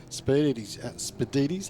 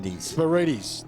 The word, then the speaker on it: Spirides: I can see the big Pantera of Ross Jackson there dicing with Perry Spirides. I think I've pronounced his name wrong. Spirides. There we go.